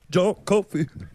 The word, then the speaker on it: John Coffey: My name's John Coffey. It's like the drink, but not spelled the same.